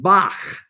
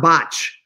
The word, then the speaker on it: Bach: And that's why it says pronunciation, as in Bach, the real German pronunciation. We in English say Bach, but notice it's a CH and it's not botch.